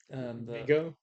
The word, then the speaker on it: Viggo: Vigo.